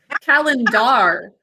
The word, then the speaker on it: calendar: That sound at the end is actually R, the pirate phonogram. Can you sound out calendar with me? Calendar. 3 syllables. Because R and or can sometimes say at a final unstressed syllable, like doctor.